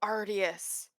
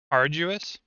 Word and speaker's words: arduous: But still ardious. Arduous.